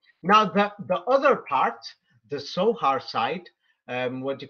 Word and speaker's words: Zohar: For example, in English we say Zohar, but you're German, you could confirm it. They say Zohar with the letter S. Yes? They would pronounce it like that most likely.